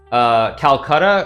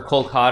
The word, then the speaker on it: Kolkata: the same hotel in Calcutta or Kolkata as Indians pronounce it and so we were